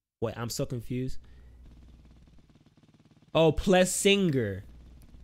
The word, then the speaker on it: Plessinger: It's pronounced Plessinger. The G, his name is not pronounced. It's like, it's pronounced Plessinger. Like, what? Wait, I'm so confused. Oh, Plessinger.